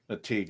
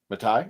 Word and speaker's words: McTighe: But this gentleman, Peter McTighe, did I say it right? Teague, I think. Is it? No, Peter McTighe. Matai?